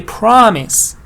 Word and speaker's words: promise: Because I say pronounce, provide, prefer, but I say promise. Promise is stress in the first part.